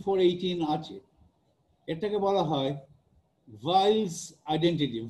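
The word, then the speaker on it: Weyl: আছে, এটাকে বলা হয় ভাইলস আইডেন্টিটি। ভাইল, ডাব্লিউ, জার্মান ভাষায় ডাব্লিউটাকে অনেকটা ভ ভ মতো উচ্চারণ করে, আমরা অনেক সময় সেটা করি না, ওয়াইলস আইডেন্টিটি বলি, ভাইল বলি না, ভ দিয়ে বলি না।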